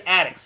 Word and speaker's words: Addix: It is Addix, right? That's correct.